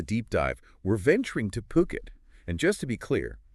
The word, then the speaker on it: Phuket: Today on the Deep Dive, we're venturing to Phuket. And just to be clear, that's P-O-O-K-E-T, pronounced Phuket, not Phuket, to explore this really intriguing intersection of sustainable living and luxury real estate investment.